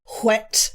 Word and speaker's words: whet: Sorry, I didn't pronounce the H in wet one time. Whet the appetite.